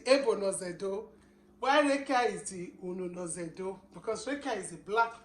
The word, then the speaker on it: Ununozędo: So, Lavinia, so try to pronounce that, the title of the book. Title? Yes. Okay. Ununozędo. Ununozędo.